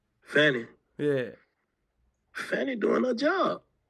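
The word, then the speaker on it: Fani: Fannie.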